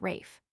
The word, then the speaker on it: Ralph: /Ralph/ is pronounced Rafe.